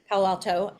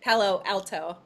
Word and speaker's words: Palo Alto: moved from Wisconsin to Palo Alto. And notice how I say that. I don't say Palo Alto. I say it like somebody from there. All one word, Palo Alto.